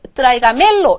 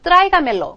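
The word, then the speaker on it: tráigamelo: 멜로 이렇게 읽어야 되잖아요 그런데 전에 말씀드린 것처럼 스페인어에서는 원래의 센토 원래의 발음을 보전하려는 성질이 있어요 그래서 원래 맨 처음에 있었던 곳에 그대로 읽어 주세요 이렇게 하고 여기다 찍어 준다는 거죠 그래서 트라이가 멜로 그러면 나한테 그것을 가져오십시오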